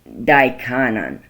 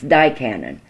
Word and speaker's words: Daikanan: kalkan Rhone and dickon daikanan I always pronounce that wrong it's dye Cannon anyway this is what